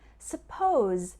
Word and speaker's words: suppose: a small pronunciation difference suppose ends with a z sound suppose and supposed to